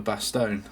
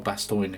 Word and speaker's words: Bastogne: like their foxholes for Bastogne, or Bastogne if you pronounce it correctly.